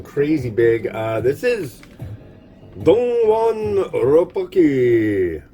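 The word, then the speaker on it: Rabokki: This is Rapokki, also known as Rapokki, which I like to say and have been told by a Korean dentist that I am saying it correctly.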